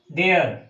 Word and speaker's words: there: होगा हियर, और जबकि इसका प्रोनाउंसिएशन THERE, इसका होता है देयर। दोनों की प्रोनाउंसिएशन में मात्रा का अंतर है, आप ध्यान रखेंगे। लगा ERE लास्ट में, लेकिन इसका होगा हियर, इसका होगा देयर, इसका उच्चारण होगा हियर, इसका देयर। तो दोनों में प्रोनाउंसिएशन के मात्रा का अंतर है, इस बात को आप ध्यान में रखें।